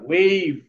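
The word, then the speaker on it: wave: এটাকে বলি ওয়েব, ওয়েব না ওয়েভ।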